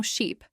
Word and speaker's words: sheep: Ship has a short I sound, like in sit or bit, while sheep has a long I sound, like in see or sleep.